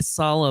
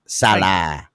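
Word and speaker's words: Saleh: well you can say Salo but the way that bich says it he extends the a like almost like it's a salad or something you know Salah he kep saying coach Salah that's what he keeps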